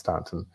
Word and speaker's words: Staunton: Virginia which is near Stanton which is spelled Staunton but it's pronounced Stanton and she was very